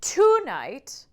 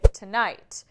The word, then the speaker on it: tonight: You're not going to say tonight, but rather you say tonight. It naturally goes to that second syllable in that word, for example.